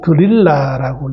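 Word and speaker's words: 들릴라: 어 데릴라라는 것은 영어식 발음이고요. 오늘 성경은 드릴라라고 얘기하죠. 이것은 히브리식 발음이 드릴라입니다.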